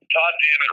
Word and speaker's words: Todd Dammit: Well, Todd Dammit rhymes with a curse word. I'm not sure if we're allowed to say it. Absolutely. It just sort of rhymes with God damn it.